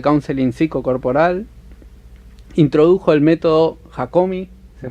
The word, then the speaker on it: Hakomi: Introdujo el método Hakomi, se pronuncia así, en la Argentina.